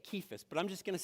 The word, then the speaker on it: Cephas: Now, by the way, uh we pronounce it Cephas. Does anybody know how it's actually pronounced? It's actually pronounced Kephas. It's a It's a harsh K. Kephas.